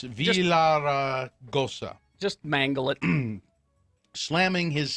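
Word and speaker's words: Villaraigosa: That was after Gary Pierce, a commissioner of the five-member Arizona Corporation Commission, wrote a letter to Villagarosa. I can't say his name. It's Villaragosa.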